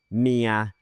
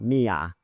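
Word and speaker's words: เมีย: The word for wife is mia and not mia.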